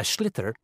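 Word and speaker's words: sliotar: And basically, you have to get this ball, called a schlitter, that's S-L-I-O-T-A-R, so it's not spelt the way it's pronounced.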